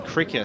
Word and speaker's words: Crikis: And I heard Harmit Singh pre-game Brash call him Cricker, so yeah, I'm assuming the coach knows how to pronounce his player's name, so we'll go with that. Yep.